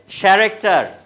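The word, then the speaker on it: character: তারপর next one ইজ, হ্যাঁ, chip, CHE, sorry, আপনারা কি জানেন CH দিয়ে কয়টা উচ্চারণ হয়? CH, দিস ইজ শেফ, হ্যাঁ, দিস ইজ শেফ। বাট তাহলে ক্যারেক্টার, ক্যারেক্টার বলবো?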